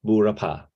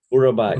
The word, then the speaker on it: Burapa: You can pronounce like a Burapa or Burapa. Burapa is right.